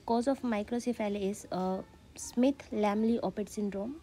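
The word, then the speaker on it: Smith-Lemli-Opitz: of microcephaly is a Smith lamly open syndrome might be there is a pronunciation difference but according to me it is Smith lambly Opeth syndrome so how we can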